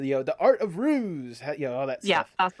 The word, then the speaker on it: Rhues: I just wanted to make sure that I pronounce the Art of Rhues, all that stuff.